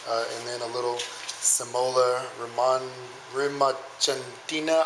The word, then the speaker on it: rimacinata: We use this Caputo double zero flour and then a little Semola Rimacentina. I don't know how to say it. Rimancita. Please go ahead and Rimacinata. There you go.